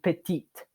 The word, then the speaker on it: petite: When it is feminine, we pronounce the T at the end.